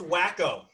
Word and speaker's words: Waco: I watched Waco. That was depressing. Oh, it's pronounced Wacko.